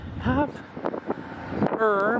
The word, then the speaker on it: Havre: and also the amtrak station welcome to hover half er montana so we're hearing however and that's oc our car attended so that's how the town of hover came to exist and why it's pronounced the